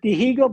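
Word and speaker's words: Dihigo: you pronounce this martindigo you don't pronounce h in Cuba it's Diego okay they say digo but in Cuba you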